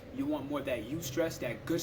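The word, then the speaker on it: eustress: You want more of that you stress, that good stress, that you stress. It's spelled E-U, stress, but you stress.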